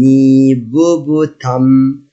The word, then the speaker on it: hippopotame: Letter H. I will not pronounce it.